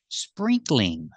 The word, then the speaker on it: sprinkling: Do we say sprinkling? No, we don't make it 3 syllables. We make it 2 syllables.